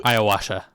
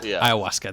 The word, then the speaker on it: ayahuasca: that you know he he's he he'll do ayahuasa Ayahuasca Ayahuasca there it is okay I I watched Tom